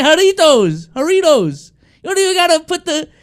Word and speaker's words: Jarritos: It's not about the accent, but just the pronunciation was kind of crazy. I don't know. Jarritos to Jarritos is crazy.